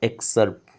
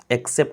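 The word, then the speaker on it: excerpt: तो that is called एक्सर्प्ट। ठीक है, एक्सेप्ट नहीं, एक्सर्प्ट। ठीक है। प्रोनाउंसिएशन नियर अबाउट सेम होता है। आर लगने के कारण आप थोड़ा सा र का साउंड देंगे, ज़्यादा नहीं, थोड़ा सा बस।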